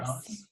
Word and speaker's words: Rallis: Is that how you pronounce it? Yes. Rallis?